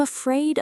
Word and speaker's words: afraid: Stress the second part. Afraid.